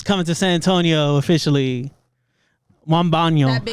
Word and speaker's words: Wembanyama: Wembanyama. That big How do you guy? say his name? How do you say- Wembanyama. Wembanyama. Wembanyama. Winnebago. This motherfucker said Winnebago.